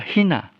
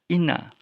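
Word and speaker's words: ἵνα: Jadi dulu dibaca hina. Tetapi sejak sejak kerajaan Romawi mengalahkan Yunani, maka huruf H ini diabaikan, tidak lagi diucapkan. Jadi pada masa kerajaan Romawi berkuasa di Asia waktu itu ya, sampai ke Mesir ya, itu tidak lagi dibaca hina, tetapi dibaca ina.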